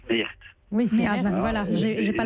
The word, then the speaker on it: Meert: Alors, dans le Nord, Mère, on prononce Meert.